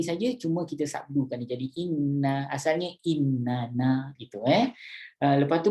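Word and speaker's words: إنَّ: Macam inna kan, inna dia sebenarnya innana, ejaan asal dia lah innana. Tapi Rasulullah ajar kita baca, jangan baca innana, bacalah inna, panjangkan 3 harakat kat situ, tapi bubuh sabdu kat situ, inna, gitu.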